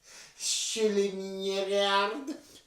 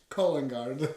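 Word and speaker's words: Skillingaryd: Skillingärd. Collingard is where we stay. Steve can't pronounce the place we stay in.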